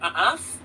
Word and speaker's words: œuf: In French, egg is called œuf, pronounced kind of like œuf.